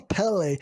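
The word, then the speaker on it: Pelle: Daí o Pel diz que vai falar com os anciões e depois disso o Pele, eu tô falando Pel agora, eu até já mudei a pronúncia, né? Mas eles falam Pele.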